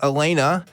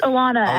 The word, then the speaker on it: Allanna: go to I want to say this is pronounced Elena Elena in New York can you hear us Elena yes I can hear you great how's it going Elena it's a Lana Lana see I knew is wrong but thank